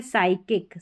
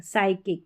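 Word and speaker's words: psychic: Number 12 पर है P silent, P और एस के कॉम्बिनेशन में, पी साइलेंट है। यहाँ पर देखिए पी को नहीं पढ़ा गया है, साइकोलॉजी और ये है साइकिक, साइकिक, तो यहाँ पर पी साइलेंट है इन स्पेलिंग्स में। अब इसमें भी पी साइलेंट है, ये है सूडो।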